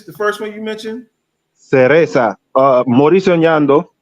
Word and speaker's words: Cereza: Cereza.